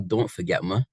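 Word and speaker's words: Don't Faget Muh: And I was strategic in the title, Don't Forget Ma, in case you were wondering how it's pronounced.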